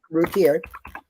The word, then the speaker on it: Routier: Darlie Rotier? Routier.